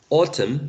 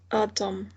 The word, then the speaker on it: autumn: read by Margaret said some letters in a word may not be pronounced at all autumn I guess this one is not pronounced is it huh this is the M or the end autumn Deanna's not pronounced okay what about this